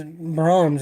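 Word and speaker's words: Braum's: of him see it's brahms is spelled uh b-r-a-u-m-s but it's like brahms is like amazing it's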